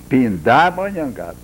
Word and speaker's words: Pindamonhangaba: E, para completar essa parte, direi que em tupi a palavra pindá, a pronúncia mais certa teria que ser Pindamonhangaba.